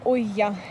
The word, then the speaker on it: olla: Называется кофе de Café de Olla, или я его называю Олькино кофе, а пишется Ойя через БЛ, как бы Оля. Ойя.